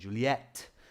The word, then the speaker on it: Juliet: Like Romeo and Juliet. This is the English spelling, but we do use the French spelling as well. So if you spell it in the French way, like this, they'll take that because we use that in English also, okay? So with a stronger T sound, Juliet.